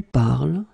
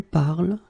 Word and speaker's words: parles: it je parle, tu parles, il parle, elle parle. So it does mean that even if you write them differently, E, ES, and then ENT, you will pronounce them the same way.